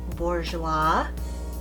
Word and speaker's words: Bourjois: Today I am going to use Bourjois.